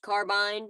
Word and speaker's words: carbine: I know it's pronounced carbine, but my accent likes to say carbine.